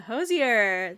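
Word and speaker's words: Hozier: Yeah, Hosier.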